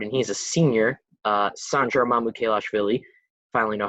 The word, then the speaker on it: Mamukelashvili: a power forward, and he's a senior, Sandro Mamukelashvili.